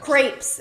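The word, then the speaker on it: crêpes: Crepes. It's pronounced crepes.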